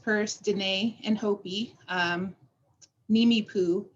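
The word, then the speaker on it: Nimiipuu: danae and hopi um neemi poo is how you say it and uh my dog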